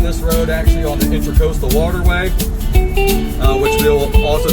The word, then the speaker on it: Intracoastal: It is the Intracoastal Waterway, not Intercoastal Waterway.